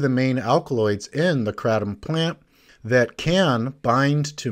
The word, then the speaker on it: kratom: of people pronounce it kratom in thailand it's pronounced kratom that actually has it's